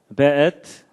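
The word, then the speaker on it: וְאֵת: 그 다음에 앳, 하샤마임, 베엣. 요게 이제 W인데도 여기에 독일식 발음을 해서 베 이렇게 읽는다고 합니다.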